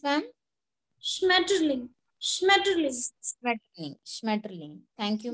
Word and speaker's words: Schmetterling: Spell, how do you pronounce, ma'am? Schmetterling.